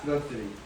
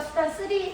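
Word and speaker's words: 수단 Ⅲ: 너 이거 읽어봐. 수다쓰리. 그렇죠. 이렇게 읽어요. 이렇게 쓰고요. 우리가 수단 3 용액이라고 읽어요.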